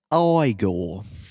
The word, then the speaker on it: Igor: It's pronounced Igor.